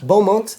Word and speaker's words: Beaumont: Beaumont.